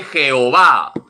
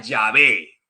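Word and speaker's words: Yahvé: uno y trino que no se dice jehová se pronuncia llave porque así se pronuncian las cuatro letras sagradas ya ve y se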